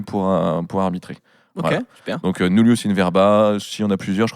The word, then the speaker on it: verba: ça s'écrit nulus in verba ça se pronce normalement weerba euh qui est une